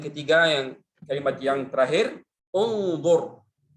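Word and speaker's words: انظر: Kemudian huruf yang ketiga, yang kalimat yang terakhir, unzur. Mungkin kita baca inzur. Karena itu berkaitan dengan kata kerja atau fi'il.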